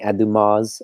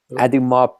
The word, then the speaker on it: Audemars: I have to be very careful because because I keep saying Audemars, I keep pronouncing the S. Audemars Piguet, right?